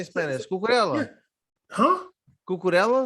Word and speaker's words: Cucurella: Bam, how much better is Cucurella than freaking Asensio? And they're Oh both my goodness. Okay, Caesar, I'm gonna need you to stop pronouncing his name like Portuguese.